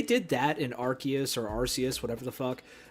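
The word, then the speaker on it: Arceus: Yeah, I mean I I like Arus and I hear people say Archus and I'm like that sounds wrong.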